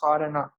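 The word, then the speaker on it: Khorana: It's the name of the scientist, Corona. You can pronounce it as Corona.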